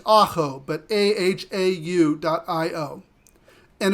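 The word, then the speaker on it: ahau: and they have their own app it's uh pronounced Ajo but a-h-a-u dot IO and it is a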